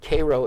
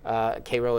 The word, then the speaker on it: Cairo: is the mayor of Cairo, Illinois, pronounced Cairo in Illinois, of course, because we do things our own way. Cairo is now population 2,500.